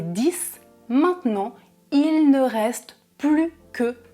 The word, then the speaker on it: plus: Dans ce cas-là, très spécifique, vous ne prononcez pas le S du mot plus. Autre exemple, au début, ils étaient 10, maintenant, il ne reste plus que 2 joueurs.